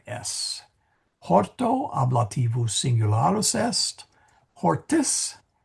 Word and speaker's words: hortis: In hortis Italiae, in the gardens of Italy. So singular is an O and plural is an IS. Horto ablativus singularis est. Hortis, hortis, I gotta make that a long I.